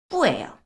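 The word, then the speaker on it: 不: 굉장히 많이 쓰거든요 자 원래 성전은 여러분 한번 보실게요 뿌예요 뿌 뿌 원래 성조는 인데요이 부 뒤에 성이 나오면 요렇게 이성으로 바꿔서 읽어요 자 그럼 만약에 원래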